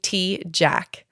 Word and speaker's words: Tejcek: Okay, well, pronounce your full name, and because I know I say your last name wrong. Everyone does. It's okay. So Riley Tejcek. Tejcek?